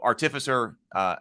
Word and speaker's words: artificer: So we got confirmation. Sable also always keeps us straight on pronunciations. So artificer is the way to go then.